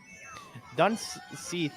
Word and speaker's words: Dunseath: Where it's spelt Sith or Saith, but it's Seath.